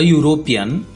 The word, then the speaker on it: European: Let's look into words which starts with a vowel letter but the starting sound is of consonant. A European, a university, a 1 rupee note. These all letters starts with a consonant sound.